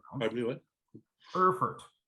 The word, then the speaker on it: Erfurt: Erfurt, E-R-F-U-R-T, Erfurt. I don't speak enough German to know exactly how that's pronounced. I think it's Erfurt.